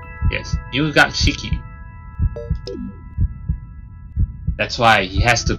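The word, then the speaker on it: 入学式: I think it's pronounced as Nyugakshiki. Yes, Nyugakshiki.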